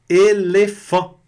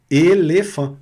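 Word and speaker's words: éléphant: E PH no francês vai ter o som de F, igual no português há 100 anos atrás. Tinha também o PH, né? Depois virou F mesmo. Mas aqui ainda se usa o PH com som de F. Elefant. Detalhe importante, a consoante aqui não é pronunciada.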